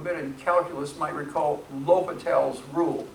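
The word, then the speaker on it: L'Hôpital: Those of you who have been in calculus might recall L'Hopital's rule. It's the same person. It's spelled like L apostrophe hospital, except without the S.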